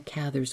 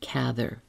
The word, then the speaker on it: Cather: Truman Capote knew her and pronounced her name as Cather. And so did I when I featured her work in, I'm looking it up, episode 271, The Burglar's Christmas. I said Cather then, but since then, everywhere I turn, it is pronounced Cather. So, I give in.